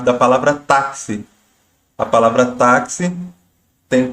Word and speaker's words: táxi: O X ele tem som de KS, então se a gente fosse escrever, você veria que a escrita é diferente, é como se fosse táxi com KS, por exemplo.